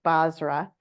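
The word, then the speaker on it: Bozrah: so I went to bosra Connecticut which is where my how do you say it thank you Basra and um I sat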